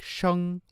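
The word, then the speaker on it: sheng: spelled s-h-e-n-g in c in chinese it's pronounced with like a high tone like it's almost sung like shang like that so it wouldn't be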